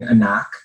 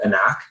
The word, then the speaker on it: Anak: And so multiple ways of saying Anak. There's the way of just saying it as it is spelled, Anak. But how we say it, and as Peter just mentioned, it can be a rallying cry as well. Anak! Or Anak!